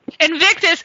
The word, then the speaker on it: Invictus: for you very much and and it's entitled Invictus am I pronouncing that right inviticus Invictus which means as you said it unconquerable and